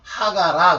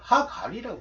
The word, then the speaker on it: 하갈: 하갈 근데 알자 발음을 영어식으로 안 하면서 하가라 그런 거예요. 하갈이라고 해야죠.